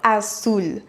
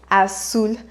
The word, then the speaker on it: azul: El color azul. El color azul. À savoir qu'en Amérique latine, on prononce comme s'il y avait 2 S. Azul. Alors qu'en Espagne, on dirait azul.